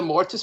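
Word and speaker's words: Mortiis: true because i was into mortise and i'm sorry mortis as i just discovered that's the way you pronounce it because same here man himself same group i know he shouldn't have spelled it with two eyes if he didn't want us to say it that way it's that's it's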